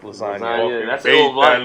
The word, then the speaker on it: lasagna: Like everybody knows that G in lasagna is silent.